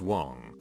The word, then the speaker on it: Wang: I, a Caucasian, was dating an Asian girl with the last name of Wang, pronounced Wong, who had a penchant for starting drama and arguments.